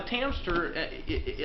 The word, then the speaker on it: Tamster: Now the Tamster, I know it rhymes with hamster.